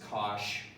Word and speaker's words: cosh: Some people pronounce this cosh.